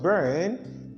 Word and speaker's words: burn: Then instead of saying just burn, B-U-R-N, they say burn. And that is why a singer will just say, I'm burning up, and not just I'm burning up, and not I'm burning up, like we pronounce it in Nigeria. So this is just simple. Whenever this letter R occurs with any consonant, any vowel letter in English language, it is not to be realized.